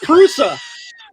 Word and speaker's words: Prusa: It's Prusa.